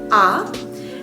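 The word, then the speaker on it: ㅏ: as your tongue so when you go to the dentist or the doctors they ask you to say ah that is how you say this vowel ah and then for this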